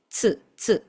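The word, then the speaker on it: つ: Este tsu es literalmente una te y seguido de su. Tsu, tsu.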